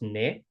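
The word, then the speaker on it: અને: Ane when we talk is often pronounced ne.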